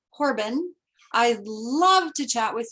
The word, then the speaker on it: Horobin: active on linkedin and my last name is spelled h-o-r-o-b-i-n so it's pronounced corbin i'd love to chat